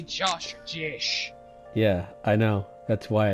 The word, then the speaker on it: Jesh: It is pronounced Jesh.